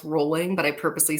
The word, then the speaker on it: Rowling: folks we got vjk Rowling you know I've learned that her last name is pronounced rolling but I purposely say Rowling just to defy her because she's trash but just super talented ugh rolling come on jeez get